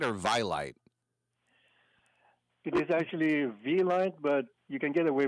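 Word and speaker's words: Vielight: It is actually V-Lite, but you can get away with Vilite. V actually stands for life in French. That's why we have V-I-E.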